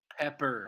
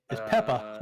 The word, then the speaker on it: Peppa: can't pronounce peppa pig good articulation pepper um no it's peppa we watch it a